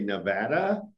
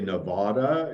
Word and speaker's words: Nevada: that we're we're uh somewhat possessive over the way we say nevada you know many people will say nevada and we'll probably correct them so i understand right